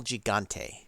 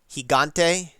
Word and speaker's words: Gigante: it's beyond my power higante jigo soft G L he L higante pronounce it like an H hent hello higante huh